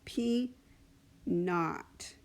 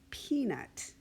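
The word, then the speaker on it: p₀: like the not for no and when that's pronounced out loud is called P not is what you'll commonly heard it called it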